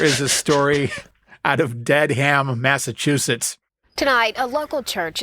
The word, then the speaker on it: Dedham: And Daniel, something very It's Dedham. They say it wrong through the whole thing. They say Dedham. It's Dedham. Come on.